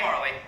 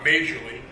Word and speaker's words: Majerle: Okay, actually, Dan Marley. Yes. What's the worst pronunciation of your last name you've ever Well, heard? it's spelled Majerle. It's Yugoslavian. It's Croatian, so it's Majerle.